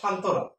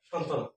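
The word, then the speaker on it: সান্ত্বনা: প্রথমত যদি কোন শব্দের আদিতে থাকে এবং যদি কোন যুক্ত বর্ণের সাথে যুক্ত থাকে সেক্ষেত্রে ব এর উচ্চারণ হয় না। সান্তনা বনাটা মনে রাখবো দন্তস আকার নয় ত বলা দন্তন আকার সান্তনা।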